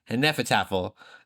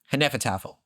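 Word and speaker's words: Hnefatafl: There's You said it right. Did I? Oh, go me. Hennefettafel. Saying it just like Ragnar Lothbrok did.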